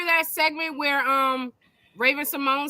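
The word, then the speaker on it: Symoné: who that said Simone the girl's name is pronounced Simone it looks like someone I remember singing that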